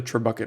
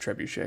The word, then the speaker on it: trebuchet: now that I think I called it a true bucket earlier I I know it's pronounced trebuchet it's just it's very funny when you pronounce